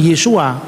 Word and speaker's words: Yesu: Yesu itu cara pengucapan orang-orang Galilea. Dialek Galilea itu beda dengan dialek Yerusalem.